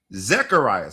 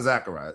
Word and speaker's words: Zacharias: Then he's Zacharias. Not Zachariah.